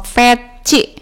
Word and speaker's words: PETJ: Oh, peci. Tulisannya PETJ, dibacanya peci.